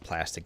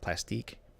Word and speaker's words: plastique: yeah but it's not it's not pronounced plastic though varieties pronounced plastique I believe I'm just saying if